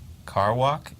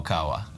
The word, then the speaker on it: Kawa: and their Ro yeah carw walk is that how you pronounce it no Kawa Kawa probably yeah Ka focus